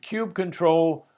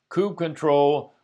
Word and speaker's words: kubectl: An aside: There is amazingly little consensus in the Kubernetes community as to how kubectl should be pronounced. Popular variations include cube control, koob control, koo becktel, koobie cuddle, and Latrell.